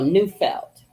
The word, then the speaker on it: Neufeld: I don't want to mispronounce his name. Oh, Neufeld.